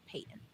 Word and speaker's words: Paton: And actually, for anyone listening, that is how you pronounce it. I know a lot of people thought it's Paton because it's Paton, or there's a bunch of different pronunciations, but it is George Paton.